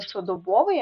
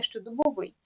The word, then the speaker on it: щодобовий: роздрібний далі котрий добовий текстовий стодобовий так не щодобовий а щодобовий тім'яний і новий але болотистий можна так запам'ятати